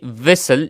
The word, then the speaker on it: whistle: इसमें टी जो है ये साइलेंट है, तो इसकी प्रोनाउंसिएशन कुछ इस तरह होगी कि विसल, इसकी प्रोनाउंसिएशन विसल होगी, टी इसमें साइलेंट है, तो विसल यानी सीटी।